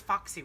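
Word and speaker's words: Fauxy: I thought it was foxy rollers. It all depends on how you pronounce.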